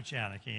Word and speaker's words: Janicki: You did well with my name. My name is Janicki.